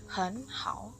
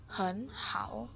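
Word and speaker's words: 很好: Kita bacanya sesuai aturan, maka pelafalan nada 3 yang pertama itu akan berubah jadi nada 2.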